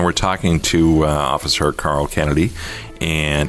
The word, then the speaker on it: Cannady: Once again, we're talking to Officer Carl Cannady. And that's Cannady, not Cannady. I'm sure you've seen it spelled like. Most of the time it's pronounced, people go, oh, Cannady. No, Cannady.